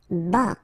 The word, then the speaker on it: bas: Bas, final S not pronounced.